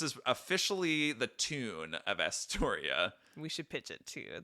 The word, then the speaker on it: Astoria: you taught it too it's a four syllable name asor that ends with